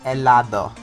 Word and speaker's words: helado: The Spanish pronunciation is helado, which means ice cream.